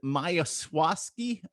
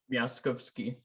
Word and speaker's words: Miaskowski: Is it Miaskowski? I messed it up. I already know. Oh Lord, I can't pronounce the Polish last names. Can you pronounce your last name again for us? Miaskowski. There you go.